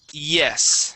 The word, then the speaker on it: yes: word yes okay um when you have a word that starts with a y you want to think of that y like an e sound okay so instead of